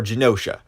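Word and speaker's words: Genosha: is going to be known as geonosha or genocia um I never know how to pronounce it but I'm pretty sure it's genocia which of course you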